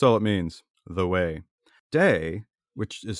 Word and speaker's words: Te: the way that's all it means the way day which is spelled t e Tau de Jing that word